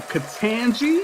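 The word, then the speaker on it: Ketanji: right along we down with that um uh katanji is that how you say your first name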